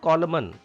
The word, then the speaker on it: column: Column. N is silent here. It is not column. Column.